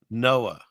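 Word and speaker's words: NOAA: Pronounced what? Noah.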